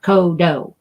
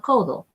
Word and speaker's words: codo: of soft in Spanish the D is kind of soft in Spanish as well so it's not kodo We're Not Gonna you